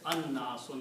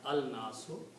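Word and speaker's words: الناس: And it is pronounced as an-nasu, not al-nasu, because noon is a shamsi letter.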